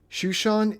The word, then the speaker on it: Shushan: Shushan is the Hebrew pronunciation for the city of Susa, which was the capital of the Elamite Empire in Persia.